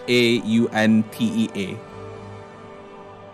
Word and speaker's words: Chauntea: Shaunti or Shanti? I pronounce it Shanti. It's Chauntea.